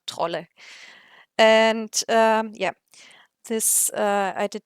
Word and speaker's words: Trolle: I looked up how to pronounce her name in Swedish, so because I've seen so many different pronunciations from Maria Trolli to Maria Troll and stuff like that, and the Swedish page said Maria Trolle.